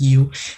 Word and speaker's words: Yow: And so that's where the last name came from, and it's pronounced as you.